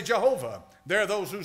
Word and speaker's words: Jehovah: say it's Jehovah or some say it's Yahweh. I choose Jehovah. I choose Jehovah because the Masoretes put the vowel points on it. And when they put the vowel points on it, we pronounce it that way.